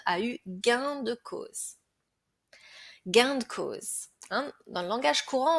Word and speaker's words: gain de cause: Gain de cause. Hein? Dans le langage courant, on va le prononcer gain de cause. Hein, le de, en fait, le e de s'entend vraiment pas.